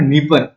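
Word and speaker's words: Dnieper: सी में गिरती है उसके बाद ये है नीप डी यहां पर साइलेंट है एन आई ई पी आर ये भी इसके अंदर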